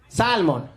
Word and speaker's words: salmon: Salmon. We're gonna have to deport you, sir. There's an L in there. You have to pretend it's not there.